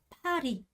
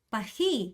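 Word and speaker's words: Paris: 이거 읽을 때 어떻게요 파리 파리 파리라고 읽죠 파리 우리나라 사람 파리라고 읽지만 프랑스는 어때요 파히 이렇게 읽어요 파히 이렇게 는단 말이에요 그래서 빠 빠 프가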